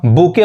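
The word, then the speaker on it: bouquet: अब यहां देखिए अब इसको हम बुके पढ़ते हैं, बुके, टी साइलेंट होता है, जिसका हिंदी क्या होता है, गुलदस्ता।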